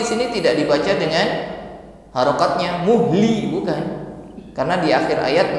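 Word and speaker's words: مهل: Muhl. Jadi bukan muh tetapi muhl, dan juga tidak langsung.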